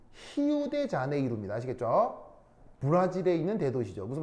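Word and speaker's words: Rio de Janeiro: 리우 아니고 포르투갈어에서 R은 H 발음이 돼요.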